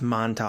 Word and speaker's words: Montauk: about the Montauk project is that how you pronounce it I'm actually not sure it's Montauk not I'm saying it out loud Montauk yeah